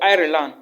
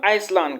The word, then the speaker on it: Ireland: or ireland if you it's not iceland guys it's ireland so if you hear me say island just know that i'm talking about ireland all right because a lot of people call it island but i always pronounce it ireland i don't know why so if you have